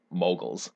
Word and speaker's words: Mughals: another major empire the mughals of india last week you read about sometimes pronounced moguls as well that's where our word mogul comes from so last week you